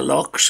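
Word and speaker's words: loch: on those still water locks and uh locks and lock locks as they're pronounced in scotland and an island and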